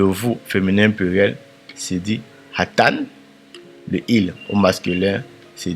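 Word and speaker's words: אתן: Et le vous féminin pluriel c'est hatan. Il s'écrit de la sorte ha hatan.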